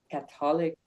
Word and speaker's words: Catholic: Emphasis in the beginning.